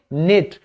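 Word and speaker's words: knit: हैं निट यह के जो है यह साइलेंट है आप सिर्फ याद रखिए निट तो मेरी दादी मेरे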